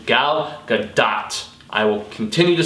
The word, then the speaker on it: Gal Gadot: film, but Gal Gadot, as she is supposed to be pronounced according to an Israeli commenter, or a Hebrew commenter in Hebrew, Gal Gadot.